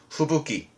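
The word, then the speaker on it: 吹雪: 그래서 눈보라의 뜻인데 발음 또한 후부키.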